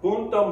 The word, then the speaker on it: punto: The word is spelled P-U-N, you know, N like Nancy, T-O, P-U-N-T-O. It's pronounced punto. Now, I know you guys in certain countries outlaw people when saying the N-word. But in this case, don't drop off the letter N.